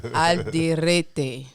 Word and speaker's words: Alderete: I should roll the R better? Roll the R maybe, okay, but let me try. It's close enough. Alderete.